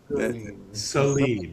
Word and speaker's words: Saleen: Saline.